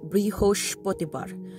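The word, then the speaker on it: বৃহস্পতিবার: is fun it is brihosh bottibar because the s is in sh so like uh brioche bread is how i remembered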